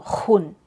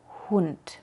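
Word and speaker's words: Hund: nada más aire House Pero cuidado que no salga algo como jaus o junt no lo cieres tanto jaus junt con que suene algo es suficiente haus hun Y cuando la sílaba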